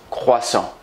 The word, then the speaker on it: croissant: freshly baked butter croissant it's pronounced croissant and if you can't silent tea i will silence you today is a